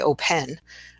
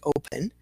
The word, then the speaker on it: open: And again, it's in the second syllable here, because I don't say open, I say open. So my schwa is the E.